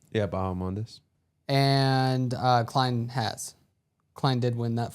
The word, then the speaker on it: Bahamondes: Bahamondes? Yeah, Bahamondes.